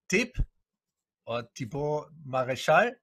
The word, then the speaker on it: Thibaud Marechal: My special guest and co-host again is Thibaud Marechal, right? Do I pronounce it correctly?